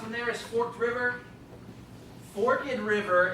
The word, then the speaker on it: Forked River: Forked River is how you pronounce it.